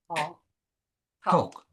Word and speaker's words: talk: We say, when we pronounce the word talk, we say ta or to, Talk. talk. Talk. Yes, we don't say talk. Talk. We don't say that L. Silent letter.